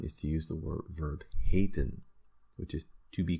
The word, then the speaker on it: heten: Now, what is also quite common is to use the verb heten, which is to be called. Heten, right? So you see one E at the beginning, but it's a long vowel sound.